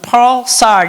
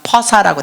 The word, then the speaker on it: pulsar: 영어로는 pulsar 이런데 한국식 발음이 그냥 퍼사라고 돼 있어요.